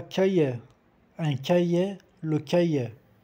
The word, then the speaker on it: cahiers: 3 cahiers, un cahier, le cahier. O S do plural não se pronuncia nemo R. 3 cahiers. É tipo um som E fechado, tipo accent aigudo.